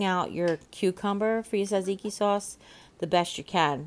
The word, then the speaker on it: tzatziki: And actually, they call it gyro sauce, which really helps because you try to pronounce tzatziki sauce. If you're ever looking for it, it begins with a T and then a Z.